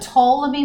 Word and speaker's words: Ptolemy: this is called the Ptolemy's model t o le and why the P is silent and he was kind